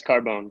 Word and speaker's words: Cardone: Yes, Cardone.